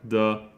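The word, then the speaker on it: た: after that we have the turo and the first one is T T is just a t sound plus a making a t sound like taco how to remember T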